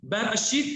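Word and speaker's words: בראשית: तो अगर हम इस बेरेशीत को तोड़ते हैं तो जो बैर है वो बार है, इसका प्रोनाउंसिएशन बेरेशीत है।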